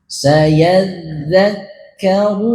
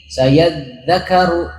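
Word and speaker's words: سيذكر: Jadi jangan bacanya gini, sayadzakaru, jangan, tapi ditasdid di kaf juga. Dal ditasdid, kaf ditasdid.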